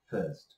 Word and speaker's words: first: এখন এখানে যেটা লিখেছি সেটা হচ্ছে কি ফার্স্ট, যার উচ্চারণটা মনে রাখতে হবে এন্ড স্পেলিংটা দেখতে হবে মনোযোগিতার সাথে, FIRST ফার্স্ট, এবং এটার সংক্ষিপ্ত রূপ হচ্ছে 1ST ফার্স্ট, দুইভাবে লিখা যায়।